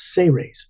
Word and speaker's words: Seres: say raise is is you pronounce it as if it was spelled s-a-y hyphen r-a-y-s say race but it's s-e-r-e-s and